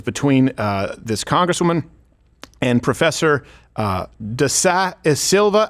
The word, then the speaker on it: da Silva: And it was between this congresswoman and Professor da Silva. How do I pronounce that name?